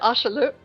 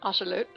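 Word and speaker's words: axolotl: But this morning I thought, Ashley the Ashalute, because that's how you pronounce it, Ashalute.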